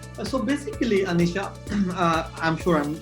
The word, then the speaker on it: Aniesha: So basically, Aniesha, I'm sure I'm pronouncing it right?